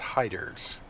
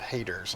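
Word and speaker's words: Hayters: is called hyder's gap it's spelled h-a-y-t-e-r-s but it's pronounced hiders not haters like you might think so what i'm going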